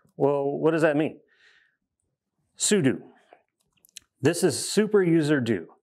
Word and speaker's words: sudo: this command it is super user do for all of you monsters that pronounce it wrong and call it pseudo it's not pseudo it's pseudo come at